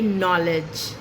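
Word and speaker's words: knowledge: डी अगर आएगा जी से पहले तो रहेगा साइलेंट, जैसे नॉलेज, प्लेज, bridge and सो ऑन।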